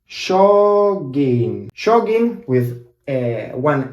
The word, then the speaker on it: jogging: We also have the same word in Argentina, and we say joggings. Jogging. Jogging with one N. We don't really pronounce the G because it's too hard for us to pronounce it.